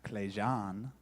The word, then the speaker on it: Clejan: y'all thank y'all so my name is uh Clan that's the clan that's how you say it just her future reference